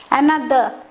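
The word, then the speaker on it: another: অ্যানাদার, শেষের আরটা আমি উচ্চারণ করছি না। তার মানে কি, ইংলিশে যখন আমরা পড়ি যদি শেষে আর থাকে সেটা সাইলেন্ট, মানে উচ্চ, মানে ওটা চুপচাপ হয়ে যায়, থেমে যায়, ওটা বলতে হয় না।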